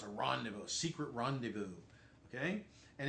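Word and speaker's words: rendezvous: like this you know it's a Rand secret randevu okay and it's not something you could possibly spell phonetically um and I doubt there's any rules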